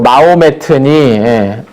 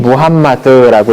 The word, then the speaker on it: 무함마드: 뭐 마호메트니, 모하메트니 뭐 여러 이름으로 다 부르는데 그 동네 발음으로 가장 가까운 이름은 무함마드라고 이제 읽는 게 가장 가까운 발음이라고 합니다.